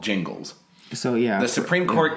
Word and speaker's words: Gingles: was decided knows that it is pronounced Jingles because it's spelled Gingles with a G and not a J.